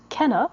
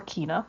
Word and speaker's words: Kena: heard anything about this game before, and it is Kenna or Kena, depending on how you want to pronounce it.